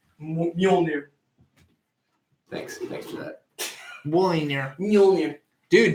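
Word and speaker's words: Mjölnir: How that's pronounced? Mjolnir.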